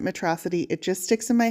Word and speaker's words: Metro City: movie, you know that the villain in the film refers to the city as metrocity. So every time I see the word metrocity, I'm going to pronounce it metrocity.